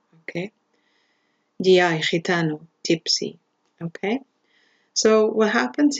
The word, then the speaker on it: gitano: GI, gitano, gypsy, okay?